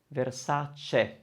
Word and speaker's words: Versace: It's spelled with CA at the end, isn't it? Versace.